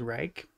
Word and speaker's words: Reich: did not know that our actual pronunciation of our name was Reich, because I was born and raised to always think of it as Rich.